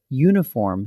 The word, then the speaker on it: uniform: So it's a uniform, because uniform starts with a U sound, and a one-way street, because one sounds like it starts with a W.